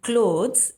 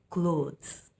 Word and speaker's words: clothes: But in clothes, LO is pronounced as LOW. So that becomes low. So clothes.